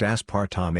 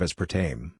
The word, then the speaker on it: aspartame: telling me that the sweetener aspartame is pronounced aspartame a instead of the correct pronunciation of aspartame i was driving around